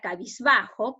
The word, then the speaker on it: cabizbajo: Y en la palabra cabizbajo, que lo dividimos en sílaba, ca, bis, ba, jo. La mayor fuerza de voz se encuentra en ba, ¿no es cierto?